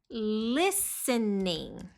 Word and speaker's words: listening: I like listening. Listening. Esse T é mudo, tá? Então não é listening, não.